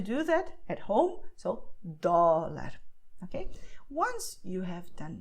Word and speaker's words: dólar: What you do is when you pronounce the letter D, your tongue is doing all the work, okay? So you just have your tongue, which is inside your mouth, and it's aiming for the front teeth.